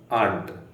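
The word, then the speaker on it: aren't: you happy ಆಗ್ತದೆ ಆರಂಟ್ ಆರಂಟ್ ಇದರ ಉಚ್ಚಾರ ಹೇಗೆ ಆಂಟ್ ಆಂಟ್ ಯು ಹ್ಯಾಪಿ ಈ ರೀತಿ ಸೋ ಇಲ್ಲಿ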